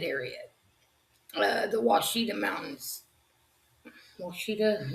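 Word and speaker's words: Ouachita: the Washidita Mountains, which is spelled O U A C I or C H I T A. The Oshida Mountains, not Washita, Oshida, I guess.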